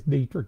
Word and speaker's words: Dittrich: on on the line john am i pronouncing your name right it is dietrich isn't it it is buddy we're so glad